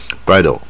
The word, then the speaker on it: bridle: 候可以混过去就好，bridle 啊，就是带一点卷舌，但发音不会比 o 上面一点 bridle。